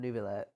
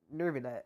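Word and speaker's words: Neuvillette: Like, Nervillet, you're supposed to say it with an R. Like, Nervillet?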